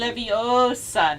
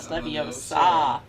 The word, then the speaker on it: Leviosa: Ling, It's we, Leviosa, not Leviosa.